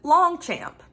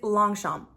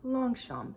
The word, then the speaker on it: Longchamp: refer to them as Longchamp, right? Longchamp. No, it's Longchamp. With that being said, the G is silent and the P at the end is silent. So it's Longchamp. Say it with me, Longchamp, right?